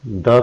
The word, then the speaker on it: the: It means before consonant sound के सामने द का उच्चारण दा ही रहता है और before a vowel sound द का उच्चारण दी बन जाता है, यानी कि दी आउल, दी एप्पल।